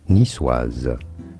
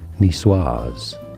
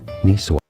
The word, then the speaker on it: Niçoise: In French, for reference, it is said as Niçoise. Niçoise. Therefore, in English, it is generally said as Niçoise. Niçoise.